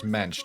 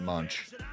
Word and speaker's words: Mench: And my last name is Mench, not Munchch, which is an Americanization of a Germanic name, also Mench, but spelled with an SC ch instead of a TCH.